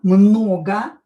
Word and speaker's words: много: Там было много людей. O, not stressed, will be pronounced as a.